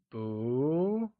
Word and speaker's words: 不: Not translates as boo and is pronounced using a mid-rising tone. Can you try and say boo?